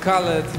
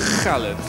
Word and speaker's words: Khaled: Bo tak należy wymawiać jego pseudonim. Nie żaden Khaled, nie Khaled, Khaled.